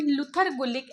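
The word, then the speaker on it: Luther Gulick: and Lindell उरविक अब इसको यह प्रोनाउंस करोगे लूथर गुलिक एंड लिंडर उरविक आप प्रोनाउंस करोगे तो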